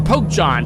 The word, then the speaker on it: PokeJohn: Think of Pokemon, but instead of Mon, it's John, like the name John.